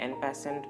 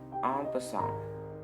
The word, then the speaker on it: en passant: Chess में और एक स्ट्रेंज मूव है ऑन पसां, जिसका फ्रेंच में मतलब होता है इन पैसिंग। इसे बहुत लोग एन पैसेंट प्रोनाउंस करते हैं। इसका करेक्ट प्रोनाउंसिएशन है ऑन पसां।